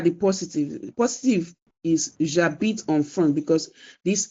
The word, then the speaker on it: j'habite: I corrected that it is j'habite, not je habite. You have to drop the E. It becomes je habite. It becomes j'habite, not je habite.